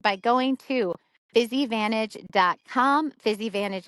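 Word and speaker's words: Physivantage: Fizzy Vantage is spelled P H Y S I V A N T A G E. So like physical advantage. Fizzy Vantage.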